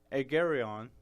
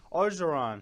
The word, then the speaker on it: Orgeron: So Ed Agarion is the interim coach there.